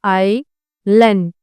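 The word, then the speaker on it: island: तो आपको उन्हें बताना है कि एस जो है वह साइलेंट है यहां पे। इसीलिए आई लन इस तरह से उन्हें प्रोनंसिएशन करेक्ट करवाएं।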